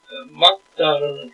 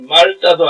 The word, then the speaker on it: 맑다: 그래서 세 자음 두 몸 사이에 소리 나는 자음은 최대한 두 개뿐입니다. 우리 막다 하면은 맑다 해서 리얼 기억 디귿 세 개가 다 손날 수가 없습니다. 그 앞에 대표음 이야기했죠. 리을 기억 받치면 기억이 대입니다. 그래서 말따도 아니고 막 뭐 리얼 기억 찍었다 한꺼번 소리 나는 말따도 아니고 그냥 막답니다. 막다.